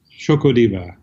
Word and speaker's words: Xocodiva: you to say it the ex is like a sh that's right it's spelled funny you guys it's like you know it's like the Aztecs do it yeah and you